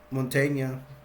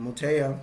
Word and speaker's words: Montoya: gonna have Tony, but they call him Montaigne. Can't say his name, Montoya. Say it like that.